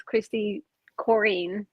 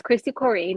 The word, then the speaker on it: Kristi Corrine: Well, a lot of people misspell or mispronounce my name as Kristi Corrine. That's how it's pronounced. They usually say Corrine, but it's Kristi Corrine.